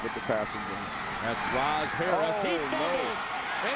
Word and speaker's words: Raz: It's spelled R-A-Z, but pronounced Roz, short for Razine.